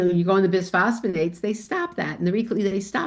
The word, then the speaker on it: bisphosphonates: Um, I've read that by phosphates are long-term bad for bone health. True? Bisphosphonates? Bisphosphonates Yeah, bisphosphonates, that's not bad pronunciation.